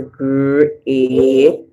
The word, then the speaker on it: great: So we hear grr, and then the E and A. The E is silent. We hear the A saying A. So great. Great. And then the E silent. We hear E.